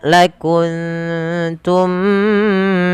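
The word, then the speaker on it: لكنتم: Maka cara membacanya, samarkan suara nunnya ke huruf ta.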